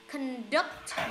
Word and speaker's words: conduct: Conduct. Nhấn âm 2 này.